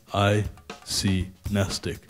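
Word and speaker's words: mnestic: G-N-E-S-T-I-C, nestic. Good try. There is a silent letter in the beginning, but it's an M.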